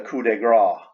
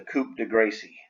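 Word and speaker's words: coup de grâce: the coupe de gracie in french it's called the coup de gras but in english we we would say it was the coop de gracie because that's how it's that's how it's written hey coop de gracie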